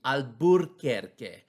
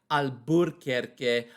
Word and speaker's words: Alburquerque: around the 1860s that we lose our r in albuquerque it used to be albert kirky alburquerque and we still say it like that in spanish my parents i always i remember hearing them talk they would say al burke but then later on